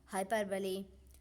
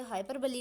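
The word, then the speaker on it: hyperbole: Friend, यहाँ पे पहले तो आप देखेंगे कि जो बहुत सारे लोग हैं उसे हाइपरबली ना बोलकर हाइपरबोल बोलते हैं, जबकि जो इसका राइट प्रोनाउंसिएशन होता है वो होता है हाइपरबली।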